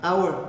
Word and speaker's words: hour: Em hour você não pronuncia a consoante H, você pula direto e vai para vogal O.